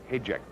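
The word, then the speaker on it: Hajdek: Hayjack's name is spelled H-A-J-D-E-K. Hayjack. It's Bohemian, I believe.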